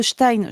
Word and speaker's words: Stein: En fait, le suffixe Stein, je l'ai expliqué dans une capsule, je le réexplique ici. Le suffixe Stein qui est un suffixe germanique se prononce comme ça en allemand.